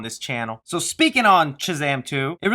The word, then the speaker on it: Shazam: a while you know I say choose am weird I say it like if I'm saying cheese instead of Shh I don't know what it is I can't get myself to say it the right way I can do Shazam it feels so weird